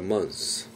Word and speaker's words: months: 그러면 th 발음을 하지 말고 s만 쌓았어요 따라합시다 먼스 오버는 포의 의미가 있습니다